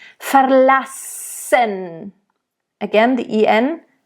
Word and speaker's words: verlassen: Verlassen. So nice double S here, of course, really hiss it out there.